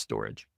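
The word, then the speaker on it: Storj: different files networks like ipfs file coin and storage you see something spelled St o RJ right there it's pronounced storage so this you could go through that story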